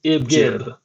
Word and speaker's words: ibgib: It's a neologism and it's called ibgib or ibgib. It's pronounced G like in gauge or garage or gigawatt.